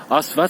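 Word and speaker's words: Աստված: dire Dieu en arménien alors ça se prononce avec un A qui est un peu profond par un a ouvert comme en français mais en a qui vient un peu de en profondeur d'accord ensuite le 2 le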